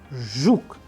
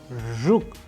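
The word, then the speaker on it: жук: And in Russian we have used another example like zhuk, zhuk. You pay attention to the pronunciation which I am doing here, so that you master this particular sound.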